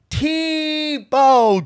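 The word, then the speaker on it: TBô: Okay, Tebow is pronounced Tebow, just like Jason Tebow.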